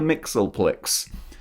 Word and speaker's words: Mxyzptlk: Mxyzptlk, or I think that's how you pronounce his name, actually. I was going to correct myself, but no, I got that right. Mr. Mxyzptlk.